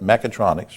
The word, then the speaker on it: Mechatronics: This is what fascinates me because I saw in your email something, and I want to make sure I had it pronounced right. Mechatronics, right?